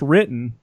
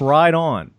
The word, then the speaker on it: Riton: And it's Riton. It's not pronounced written. It's pronounced right on.